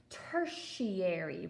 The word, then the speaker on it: tertiary: our tertiary colors okay say it with me tertiary right it kind of has that sh sound to it but it's spelled like this so t e r t i a r y that's tertiary and we get our